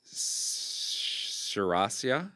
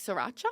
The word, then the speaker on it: Sriracha: Sarasia. Oh, like Sriracha.